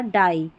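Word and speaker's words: die: में आएगा आई ई, तो इसको पी नहीं पाई, टाई या डाई ऐसे पढ़ेंगे, और ये लाई।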